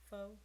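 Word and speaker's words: phở: And then after that, by probably the end of my pregnancy with him, all I wanted was pho. Tried pho. Pho is bomb. And wait. What? Pho. Pho. Pho.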